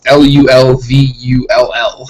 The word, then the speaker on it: Louisville: You have to pronounce it as... Lulvull. It has to sound as much like a boomhauer on King of the Hill mumble as you possibly can.